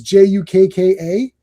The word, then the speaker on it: Jukka: Someone was on here on the He-Man stream and mentioned Jukka. But because I had never seen his name spelled out, it was j u k k a.